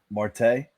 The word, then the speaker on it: Marte: All right, my wild pitch here is I may mispronounce his first name. Ketel Marte. Marte?